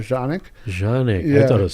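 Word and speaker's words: Canik: called like the American a lot of people in America call it Canic but original pronunciation in Turkish is called Janik Janik I thought it was sanic right c n i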